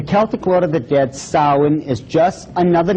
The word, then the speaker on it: Samhain: Now, when you look at the name, it looks as if it's saying Samhain or something like that. No, no, no, no. This is properly pronounced in the ancient Gaelic as Samhain.